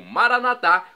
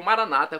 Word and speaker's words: Maranata: e agora eu clamo maranat como dizemos nós católicos ou Maranata como dizem nossos irmãos separados os evangélicos ou protestantes não importa pronúncia o significado é o